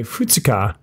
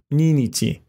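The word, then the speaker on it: 二日: one the kanji for two has an irregular pronunciation for day of the month we say futsuka and not Nene tea for the second day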